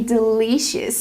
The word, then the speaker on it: delicious: in order to be delicious so I cannot pronounce the word delicious we cannot use the long e sound like green beans we use the short I sound like this is again it's more